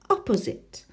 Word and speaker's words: opposite: number three three syllables which do you think it's the first one opposite opposite opposite no departures arrived opposite